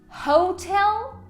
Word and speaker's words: hotel: Qual das duas sílabas é a sílaba tônica? É ho ou é tel? And the correct pronunciation here is hotel. Hotel. Então, muitos alunos vão acabar colocando essa ênfase em ho, but it's actually in tel.